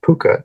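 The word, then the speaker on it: Púca: And so I published the magazine called Fuka. I think you'd actually pronounce it Puka if it was correct.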